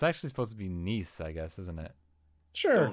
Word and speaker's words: Nice: guess isn't it sure pronounced like the vanity it's why they had to cite that three times um this guy I don't think I mentioned it revealed how you should really pronounce nice biscuits and it doesn't and it doesn't rhyme with mice have you been pronouncing